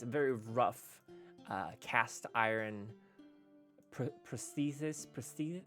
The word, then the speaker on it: prosthesis: It's a very rough cast iron prosthesis. How do you do you pronounce that?